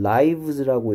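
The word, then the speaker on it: lives: 아니고 라이프니까 life의 복수형이니까 얘는 똑같이 생겼는데 얘를 라이브즈라고 읽느냐 리브스라고 있냐에 따라서 살다인지 생명들인지 달라지는 거죠 똑같이 스펠링은 똑같은데 발음에 따라서 life의 복수형 라이브즈냐 리브의 3인칭 단수형 리브스냐 구분하셔야 되겠고요 여기에 얘는 셀 수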